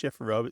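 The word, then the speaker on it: chifforobe: And and usually shifer um is of I mean sometimes there's some you know variations that we say but yeah usually it's pronounced shifro.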